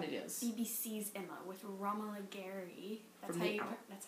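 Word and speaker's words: Romola Garai: BBC's Emma with Romola Gary. That's how you pronounce her name.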